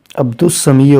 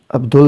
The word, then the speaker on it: عبد السمیع: یہ سین آئی ہے، تو عبد السمیع ہوگا، عبدال نہیں ہوگا، یہ الف لام جو